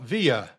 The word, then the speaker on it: Villa: Villa. Who is Villa? Actually, it's a villa. Villa. That's the pronunciation. It sounds Spanish, but it's actually Italian.